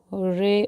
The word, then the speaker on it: hooray: And the first sentence is he said, "Hooray or hurrah." Both are correct pronunciations.